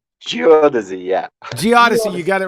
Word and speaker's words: geodesy: geodesy does he geodesy i don't know how to pronounce it's geodesy most people even even the geothesis can't pronounce it right uh geodesis it's geodesy